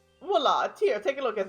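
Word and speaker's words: voilà: Viola. Voila. Here, take a look at this. Viola. Viola. Listen, pronouncing words is hard, especially when you're switching from reading stories in different languages with different names.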